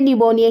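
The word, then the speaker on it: pneumonia: सही होगा ठीक है पी साइलेंट रहता है एन ई यू एम ओ एन आई ए इस तरह से निमोनिया की स्पेलिंग लिखी जाती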